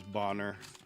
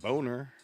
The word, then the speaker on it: Bonner: I actually had a friend growing up, his last name was spelled the same way, and it was Bonner. But unless you know that, you're going right away with Boner.